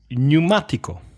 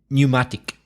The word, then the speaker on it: pneumatic: Pneumatico. Well, as an adjective, pneumatic. As a noun, it would be tire. But as an adjective, pneumatic. So another silent P. Pneumatic.